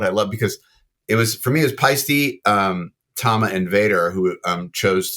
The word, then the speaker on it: Paiste: Go back to Paiste. P-A-I is pi, not P or P-I-E.